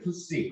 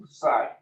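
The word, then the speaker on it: Ψ: 그래서 읽을 때 푸시 혹은 푸사이. 영국식 발음은 푸사이가 되겠죠.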